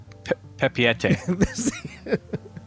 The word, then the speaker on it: Papeete: Papeete.